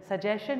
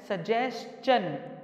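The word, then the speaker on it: suggestion: Actually क्या है, एक वर्ड है सजेशन, बहुत से इसको मिस प्रोनाउंस करते हैं, वो क्या कहते हैं? सजेशन। सजेशन नहीं होता ये, इट is pronounced as सजेशन।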